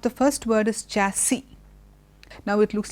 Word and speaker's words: chassis: seems quite fancy okay though we have an S at the end we don't say chasis it is chassis the other word which